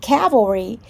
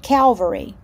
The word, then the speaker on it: cavalry: be pronounced hundred and cavalry is not calvary cavalry is the the